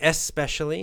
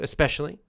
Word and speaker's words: especially: You can say especially if you want to, especially, or you can put the little k, the little kind of K sound in there, especially.